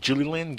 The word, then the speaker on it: Gilliland: You had a gentleman on yesterday on Future Theater by the name of James Gilliland. Gilliland? How do you pronounce that last name again?